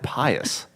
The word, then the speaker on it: Pius: Have you had Pius out in Dripping Springs? Or out southwest of city? How do you spell that? Pie. Oh. Us. Oh, okay. No. O-U-S. Oh. Pie-O-U-S. Yeah. Like being pious.